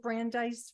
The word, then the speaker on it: Brandeis: I did not realize you renamed a part of, is it Brandeis Road? Am I saying it right? Yeah. Brandeis Road.